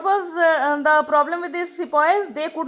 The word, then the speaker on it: sepoy: The British army included European soldiers and the Indian sepoys. Now sepoy here was the pronunciation which was made by the Britishers for sipahi.